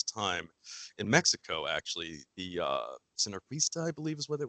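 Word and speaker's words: sinarquista: I believe it was the synarquista is how it's pronounced.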